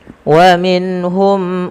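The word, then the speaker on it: ومنهم: Pada lafal bacaan wa minhum, jelaskan suara nunnya ketika ia bertemu dengan huruf H karena dia bacaan dengan izhar halqi.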